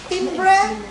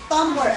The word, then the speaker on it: timbre: thumber okay very good so we spell it as t i m v r e but we read this as tber tumber okay not timre but tumber again how are we